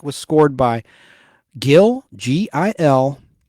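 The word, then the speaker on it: Mellé: But that music was scored by Gil, Gil Melle. The Spanish pronunciation is Mella.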